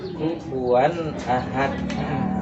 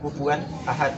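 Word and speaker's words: كفوا أحد: Jadi bukan berhenti, bukan kufuwan ahad, itu khoto atau salah. Jadi yang benar itu bacanya mengalir, kecuali di situ ada huruf hamzah yang kita harus berhenti.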